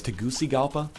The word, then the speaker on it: Tegucigalpa: like that's I'll take that shit what it's pronounced like I like that name I'll take the a- parently it's Tegucigalpa anyway who cares I don't I don't speak